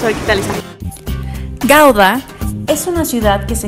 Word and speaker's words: Gouda: Gouda, pero al parecer no se dice Gouda, se dice Gouda.